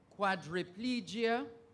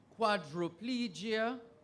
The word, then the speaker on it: quadriplegia: is quadriplegia in fact this word is pronounced in three different ways quadriplegia quadriplegia and a quadriplegia spelled and pronounced three